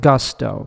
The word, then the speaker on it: Gusto: I pronounce it Gusto because it's the English word.